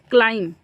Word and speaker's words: climb: यहाँ पे ध्यान से इसका प्रोनाउंसिएशन देखिए, क्लाइम लिखा है, क्या लिखा है? तो इसमें बी इज नॉट प्रोनाउंस्ड, यानी बी बोला नहीं जाएगा, बी उच्चारित नहीं होगा। प्रोनाउंस मतलब उच्चारित नहीं होगा। इट इज साइलेंट, बी क्या है इसमें?